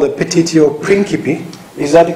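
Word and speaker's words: petitio principii: Petitio principi.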